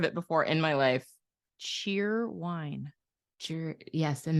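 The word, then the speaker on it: Cheerwine: before in my life cheer wine cheer yes and they say it like Cherry Wine Cherry Wine it's black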